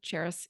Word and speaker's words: Charis: It's spelled and pronounced like the city Paris to help everyone understand, but with a Charis.